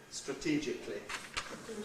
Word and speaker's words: strategically: Strategically includes a compression. We should talk about it perhaps because it's really basically strategically. Okay? Only becomes li. Compression gives us li. Strategically.